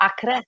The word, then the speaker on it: Acre: I don't know if you pronounce it Acor or how you say it. That's Acre. Yeah, Acre.